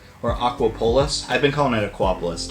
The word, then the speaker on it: Aquapolis: So, it's Aquapolis. Or Aquapolis.